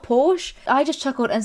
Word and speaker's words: Porsche: guy saying you know that's wrong it's actually pronounced pore how else do wait am I pronouncing it wrong is it not Porsche I just chuckled and said no he actually